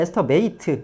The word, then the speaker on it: estimate: 이게 estimate, 이게 동사일 때는 estimate, 예, ate라고 읽습니다.